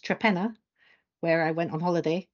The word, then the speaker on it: Torpenhow: So it's a little village in Cumbria, which is spelt Torpenhow, but pronounced Trepenna, where I went on holiday about 3 weeks ago.